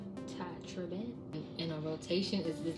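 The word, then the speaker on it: Tye Tribbett: Because that's how you actually pronounce his name. Ty Tribbett.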